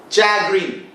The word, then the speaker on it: chagrin: Chagrin. Pronounced like chagrin, chagrin. Now, it sounds like चाय गिरना.